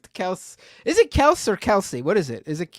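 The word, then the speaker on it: Kelce: yeah they are uh no it's Kelsey you're wrong buddy it's Kelsey it's Kelsey the chat saying it's Kelsey yeah I did a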